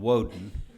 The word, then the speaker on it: Woden: Just one comment I wanted to make, and well, number one, it's pronounced Diboll and Woden.